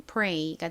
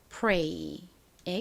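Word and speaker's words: prey: 가장 앞에 P는 피읍 소리, P 소리 나고요. R은 리을 소리 나죠. 그리고 EY는 A 소리 나서 연결하면 pray가 됩니다. 한국식으로는 pray라고 쓰고 실제 발음은 pray에 가깝게 납니다.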